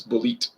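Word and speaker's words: Bulleit: Now, Bullet, yeah, Bullet, but it's Bullet the way it's spelled.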